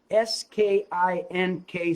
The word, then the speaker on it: skink: geico he's a skink s-k-i-n-k skink rhymes with stink but my skink does